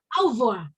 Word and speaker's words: au revoir: Terus kalau selamat tinggal tuh lihat, kalau selamat tinggal kan tulisannya au ya. Tapi dibacanya cuma au revoir.